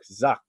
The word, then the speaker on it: Zucked: Oh, the book, Zucked. Yeah. Like Zuckerberg. So like fucked, but with a Z.